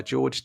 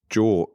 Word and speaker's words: Georg: Your one, Andy, was Monetizing Innovation by George Tack. Is that how you say it? It's like, there is no E on it. It's Jork.